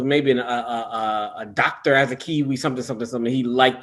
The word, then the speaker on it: Asakiwi: you pronounce it uh it's pronounced as a kiwi it's a funny name